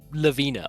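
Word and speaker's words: Lawine: You It's just pronounced Lavina.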